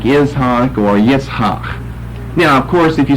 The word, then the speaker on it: Yitzhak: We don't use gutturals like that in English, a hak, where you got a double guttural there, as you see here with these last two consonants.